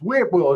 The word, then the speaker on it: Whitwell: It's it's Whitwell. It's not W. It's W. There's a T in there.